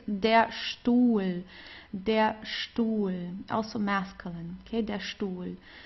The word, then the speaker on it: Stuhl: And then whenever you have an ST at the beginning of a word, you also pronounce it as st. Okay, so here it's der Stuhl, also masculine, okay, der Stuhl.